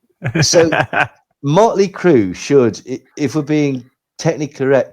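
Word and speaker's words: Mötley Crüe: So Mly Crew should if we're being technically correct should be pronounced Mley Cra.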